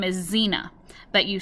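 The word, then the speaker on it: Xena: name of my chinchilla and her name is zina but you spell it X E and a C in class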